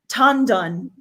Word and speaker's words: Tan Dun: What is the pronunciation exact? Tan Dun.